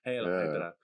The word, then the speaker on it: Hydra: It's pronounced Hydra. Hydra.